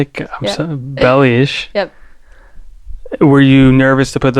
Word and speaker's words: Belis: Belis.